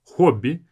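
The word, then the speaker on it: хобби: Hobby. Make sure to pronounce it as hobby with the O.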